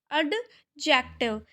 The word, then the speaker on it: adjective: एडजेक्टिव बोलते हैं एडजेक्टिव बट द जो होता है इसमें वो साइलेंट होता है इसलिए हम इसे क्या बोलेंगे एडजेक्टिव स्पेलिंग यही रहेगी लेकिन इसे हम बोलेंगे एडजेक्टिव इसको हटा देंगे और बोलेंगे एडजेक्टिव ठीक है तो एडजेक्टिव